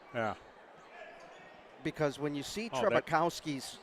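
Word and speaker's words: Trzebukowski: said there's no way they said the z is silent it's t-r-z-e-b and he says just call him trebuche trebukowski trebukowski yes now here comes solomon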